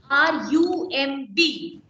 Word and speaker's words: crumb: Whenever you have MB together at the end stage of a word, you have to keep burr silent. So the pronunciation is crumb.